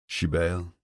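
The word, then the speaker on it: Sibéal: Shibil, I murmur. What? She asks, frowning at the strange word. Shibale, I say again. It's Irish for Isabel, sort of like Sybil.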